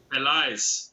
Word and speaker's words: Pelaez: Is that pronounce it? Pelaez. Pelaez.